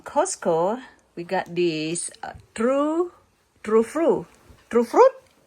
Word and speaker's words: Tru Fru: We got this true true fruit. True fruit. Why there is no f i t right here? So you pronounce it true. It's called true fruit.